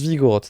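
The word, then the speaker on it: Vigoroth: la rivers au kermadi vigo roth il se prononce vigo roth d'accord vigan attend rivers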